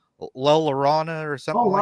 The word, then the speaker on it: La Llorona: I can't pronounce her name right. La Llorona or something Oh, La like that. Llorona. Yeah, no, yeah. Yeah. Llorona. La Llorona, yeah.